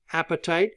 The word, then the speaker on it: apatite: you have your phosphates apatite is the I know phosphates it is your appetite for your stomach is quite a bit different spelling than this one okay but it's pronounced the same and then you have